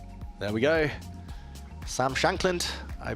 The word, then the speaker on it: Shankland: Shan Sagian. There we go. Sam Shankland. I mispronounced his name.